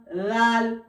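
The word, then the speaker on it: راء: রাল রাল রাল। এবারে র। র উচ্চারণ হয় এই জিভের দুই সাইড সোজা উপরের দুই তালুর সাথে লাগবে।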